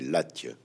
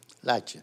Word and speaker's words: Latche: Donc en fait, si on doit prononcer exactement en respectant la prononciation de ce Gascon-là, c'est Latch. Latch. Latch. En atténuant en plus la finale.